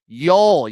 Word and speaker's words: Joel: So if you're looking for a little live bet action, maybe Yolanta Yol Yol, you don't pronounce the J.